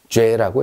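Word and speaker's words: j'ai: 자, 주와 애가 합쳐졌습니다. 합쳐서 뭐라고 읽냐면 죄라고 읽습니다. 죄. 프랑스어는요, 연음의 언어입니다. 앞뒤로 합칠 수 있으면 가차 없이, 여지 없이 합쳐버립니다. 아무도 이거를요, 주, 애라고 얘기하지 않습니다. 그냥 죄. 그러면 이렇게 생각하면 되겠죠.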